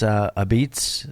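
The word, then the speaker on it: Apizza: We're looking to get to Wooster Street, and this is Sally's A Beats. That's what they call it. It says a pizza. It's pronounced a beats.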